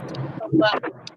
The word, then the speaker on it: Tupelo: And so I thought it was pronounced like Tupelos. But it's Tupelo.